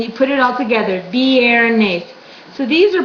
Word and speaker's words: viernes: Viernes. So these are pronounced. Even though they're right next to each other, you still pronounce them as their individual sound.